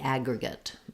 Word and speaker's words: aggregate: because it's also unstressed so it sounds like Agra good good or gut just to make sure you're using a reduced vowel for that last syllable so the aggregate aggregate yeah good word